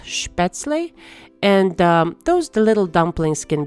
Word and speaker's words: Spätzle: In German, I think it's pronounced Spätzle.